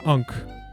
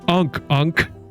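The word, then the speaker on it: ankh: I picked up an ank. I told you. It's ank. Well, no. The British pronunci the British pronunciation is is ank.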